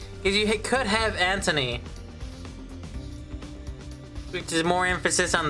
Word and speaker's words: Anthony: Technically, but it is supposed to be a th sound, so it's Anthony. That's what the TH is.